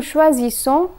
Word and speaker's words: choisissons: A single S is pronounced as Z, while double S is pronounced as S. So here's the conjugation. Je choisis, tu choisis, il choisit, elle choisit, nous choisissons, vous choisissez, ils choisissent, elles choisissent.